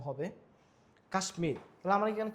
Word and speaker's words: কাশ্মীর: ফলাযুক্ত কিছু সংস্কৃত শব্দ আছে এগুলোতে ম এর উচ্চারণ, যেমন কুষ্মাণ্ড, সুস্মিতা, কাশ্মীর। এখানে এই যে বর্ণটা এখানে হচ্ছে আসলে ম হবে কাশ্মীর, তাহলে আমার এখানে কি হচ্ছে?